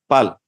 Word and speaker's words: Paul: You pronounce Paul or Pal? Pal. P-A-U-L.